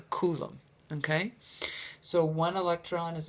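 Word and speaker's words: coulomb: is a kolum and it's spelled c u l m b a coolum okay so one electron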